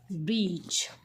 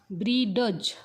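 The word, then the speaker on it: bridge: शब्द आहे तो आहे ब्रिज काय आहे बघा ब्रिज बऱ्याच जण इथ ड चा उच्चार करतात तर ह्यामध्ये ड चा उच्चार करायचा नाही कारण तो आहे सायलेंट लेटर लक्षात आलं का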